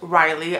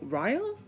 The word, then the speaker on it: Ryle: And then she meets this man named Riley. I think that's how you pronounce his name. I was wrong. It is not Ryle. It's supposed to rhyme with mile, so Ryle?